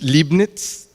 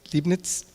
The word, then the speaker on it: Leibniz: I don't know how you pronounce his name, but I think it's Leibniz? Leibniz.